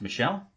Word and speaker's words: Michel: about him and then Sony Michelle or Michael what's his pronounced Michelle its Tony Michelle but there's one running